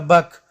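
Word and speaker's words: back: د سی توری کله چې د کې توري څخه مخکې راشي نه تلفظ کېږي، لکه بک.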